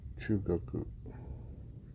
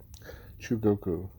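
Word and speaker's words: 中国: Second character is pronounced Goku. Chugoku. That's a terrible G, sorry. Chugoku.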